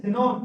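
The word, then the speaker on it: xenon: फिर silent x देखो, ये रहा अपना एक्स, ये रहा अपना एक्स, तो क्या बोलते हैं जेनॉन, क्या बोलते हैं जेनॉन।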